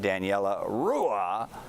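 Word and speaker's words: Daniela Ruah: And joining me to break it down, a special treat, two instant BFFs of The Stream, stars of NCIS LA, Daniela Rua, as I'm told to pronounce, and Eric Christian Olsen.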